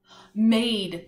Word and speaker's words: made: The word that we talked about that would spell mad if we didn't have the silent E at the end. What word was that? What word is that? Made.